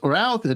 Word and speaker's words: Routh: It's Ruth. It's Routh. I don't know. It's like root or route. You choose.